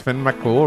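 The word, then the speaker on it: Fionn mac Cumhaill: Finn Makumhale is pronounced Finn Makul.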